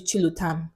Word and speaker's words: Chilam: I tell them oh my name is chilam it's three syllables I kid you not